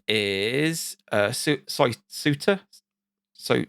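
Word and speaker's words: Souta: whose name is uh Suiter so Suitor spell it s-o-u-t-a Santa yeah it's pronounced completely different in Japanese and uh yeah so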